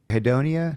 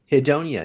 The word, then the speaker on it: hedonia: And contrast that with the word hedonia. How do you pronounce that one? Yeah. Hedonia.